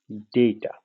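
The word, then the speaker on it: data: এ টি এ রয়েছে এটাকে আমরা কখনোই ডাটা বলবো না মানে লাল শাক সাদা শাকের যে ডাটা ওটা বলবো না আমরা বলবো হচ্ছে ডেইটা আমরা বলবো ডেইটা এরকম এটাই আসলে ইংরেজির সঠিক উত্তর উচ্চারণ কিন্তু যদি আমরা প্রশ্নই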